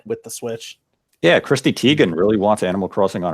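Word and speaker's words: Teigen: the switch yeah Christy Teegan really wants Animal Crossing on her switch as I'd never do how to say her last name Tegan yeah that's how you okay how did you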